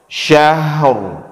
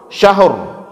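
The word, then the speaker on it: شهر: Hoi umum mind Elvis Syahrul Syahrul seperti itu cara bacanya jangan langsung Syahrur tapi agak lambaian agak-agak nah Penajam number Cut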